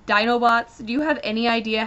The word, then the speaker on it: Dinobots: stop the Dinobots and when he says Dino Bots it's spelled D i n o bots and Sun trigger stops him and goes no it's Dinobots Dy and they have this